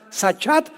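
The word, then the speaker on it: שחת: la palabra hebrea sachat se escribe con s Samuel y ch como suena sachat con té de tío al final y esta palabra significa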